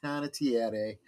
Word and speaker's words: Panettiere: If you want to get real technical with the Italian, it's Panettiere, but don't worry about it.